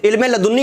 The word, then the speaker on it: علم لدنی: لدنی سے نوازی گئی، پہلے تو تلفظ نہیں کرے، علم لدنی ہوتا ہے۔ دوسرے نے کہا کہ